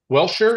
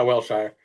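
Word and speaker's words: Wellshire: Um, so, Cam Crabtree, fellow speed toad, team toad, professional PGA teacher out of Welshire. Is that how you say it? Yeah, Wilshire.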